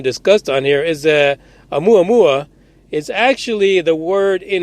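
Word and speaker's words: ʻOumuamua: And here's a quote: considering an artificial origin, one possibly is that Oumuamua, pronounced Oumuamua, and that's actually in this document if you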